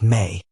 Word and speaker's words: me: They were discrete, tangible, and transferable principles or objects known as the mi pronounced may.